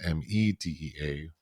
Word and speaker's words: Medea: tarler Perry production people that's spelled m a de EA and this is me DEA to Greek mythology and the play by